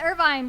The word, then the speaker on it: Irvine: Canonically, here at MAGWest, it's Irvine. We're establishing that now. Irvine, all right. So the scene with Irvine where he's trying to